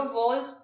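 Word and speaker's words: Volksgeist: तो इन्होंने दिया था हमारा व क्राइस्ट देखो जो वॉल्स होता है ना मतलब इसका प्रोनशन हो गया बट जर्मन में इसको यह जर्मन वर्ड है और जर्मन में इसको वी को एफ ही प्रोनाउंस करते हैं।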